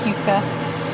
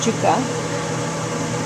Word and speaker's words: yuca: Or you guys, I say Americans, pronounce it yuca, but it's pronounced yuca.